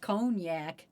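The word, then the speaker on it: Cognac: It's pronounced Conac.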